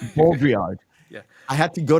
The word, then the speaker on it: Baudrillard: It's Baudrillard. Yeah. I had to go to Google and to listen to how it's pronounced, and I couldn't.